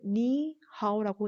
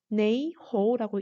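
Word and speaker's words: 你好: 수도인 북경 지역과 그리고 표준어인 보통화로는 이것을 니하오라고 읽는데 이 중국에서 이 광둥 지방, 딤섬 요리 유명한 데 있죠. 이 지역에서는 이 한자를 네이호라고 읽습니다. 그래서 안녕이라는 말은 표준어 보통어로는 니하오라고 말하고 강동어로는 네이호 이렇게 말을 합니다.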